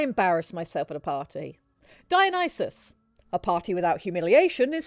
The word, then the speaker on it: Dionysus: Dionysus. Dionysus. Dionysus was Okay, cool. Very well. Yeah. Let me read some of these. You, I embarrass myself at a party. Dionysus, a party without humiliation is simply a meeting.